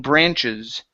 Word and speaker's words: branches: Make sure to pronounce this S here at the end. Okay, so sharp-looking branches.